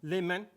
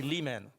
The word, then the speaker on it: Le Manh: good way to start Lon yes Lon yes perfect um my French is a little rusty I know a little bit actually it's a Vietnamese name what really yes I